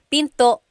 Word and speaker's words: pinto: And remember, don't forget the glottle stop. Don't forget to stop the sound at the end. That's called a glottle stop. Pinto. Pinto. It's not Pinto, it's Pinto. Stop it at the end.